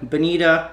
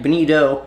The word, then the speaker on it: bonito: whereas in South Florida we call them Bonita nobody calls him false albacore we actually mispronounce and say the wrong name for these fish there is a fish actually called a Bonita the Atlantic bonito but needless to say